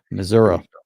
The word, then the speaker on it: Missouri: City in Kansas Kansas City Kansas Kansas City Missour that's how they say it Miss yeah and